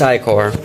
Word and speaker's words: ichor: a black substance called ichor. I think I pronounced it right. Yeah, it's ichor.